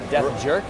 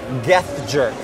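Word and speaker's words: Geathjerk: Death Jerk? Or I should say, Geth Jerk. Geth Jerk. It rhymes with Death Jerk.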